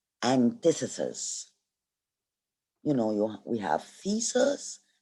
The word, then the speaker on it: antithesis: This is how we pronounce it, antithesis.